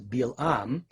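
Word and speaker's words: Balaam: by the way though the hebrew text of the torah renders his name as bilaam most contemporary biblical translations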